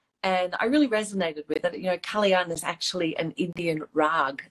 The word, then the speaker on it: Kalyan: Okay, I'm so glad that you corrected me on the pronunciation, because it's such a beautiful name. So I'm going to try it again. It's Kalyan.